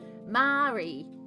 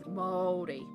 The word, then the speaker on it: Māori: it like this, but I used to say Mari, and it's not, it's Māori.